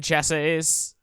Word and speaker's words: chassis: Make our machine chassis. The S is silent. I'm gonna always say the S.